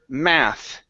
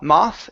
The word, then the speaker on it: math: one is the word math okay give me a short a instead of a moth it's a ma math math math great job good all